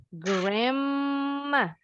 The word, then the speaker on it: grandma: mother bunyi u-nya jadi a grandma nah bacanya Yang betul gramma Jadi huruf d nya silent tinggal huruf n-nya tapi